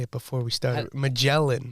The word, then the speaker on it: Magellan: you how to say it before we started magellan magellan sorry it's oh my god by explorer ferdinand